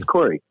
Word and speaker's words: Coury: say it right then corey not curry corey yeah corey okay thank you i